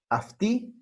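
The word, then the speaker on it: αυτή: Afti, aftis, afti, aftin, y ese es el singular, ¿no?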